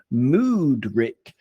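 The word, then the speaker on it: Mudryk: Mudrick, for example, or shall we call him Shitrick? Or if we're going to use the Ukrainian pronunciation, it would be Moodrick, in which case we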